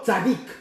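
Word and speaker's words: צדיק: Le mot juste ici, en hébreu, c'est le mot tzadik. Le mot tzadik. Tzadik s'écrit T-S-A-D-D-I-Y-Q.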